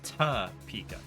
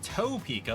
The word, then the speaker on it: Topeka: Spokane is that right it's kind of like I live in Topeka locals call it ta pika if you call it Topeka like my buddy Eric